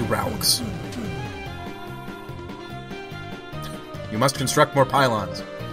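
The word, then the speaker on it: Rouxls: him off and uh ralks here is saying that his name is pronounced rules which i don't care about because his name is clearly raulx you must construct more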